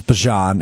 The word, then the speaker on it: Bijan: I don't get So his name is Bajan. It kind of rhymes with Parmesan.